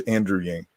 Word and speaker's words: Andrew Yang: His name's Andrew Yang. Right. Andy Yang. Andrew Yang.